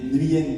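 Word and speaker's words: Nguyễn: Et son nom de famille c'était Nguyen Thi. Parce qu'en fait, on prononce pas le G en vietnamien, on dit Nguyen. Donc on dit pas Nguyen, on dit Nguyen Thi.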